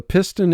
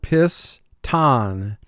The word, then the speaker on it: piston: to be replaced piston now for spelling purposes we pronounce this word piss tan first syllable piss three sounds tan three sounds mark the word piss tan and again the speaking vocabulary for this word is piston but for spelling piston hamlet hamlet i live